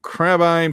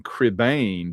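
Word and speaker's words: Crebain: They spell it's C reb A I N. Crebane, but that's not how they say it. Yeah, I tried to say it the way they say it in the movie so you'd at least have a fair chance.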